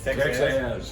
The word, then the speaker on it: Texaz: Texaz.